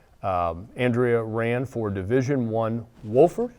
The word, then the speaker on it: Wofford: After Fairmont, Andrea ran for Division I Wofford, am I pronouncing that correct? Wofford yeah.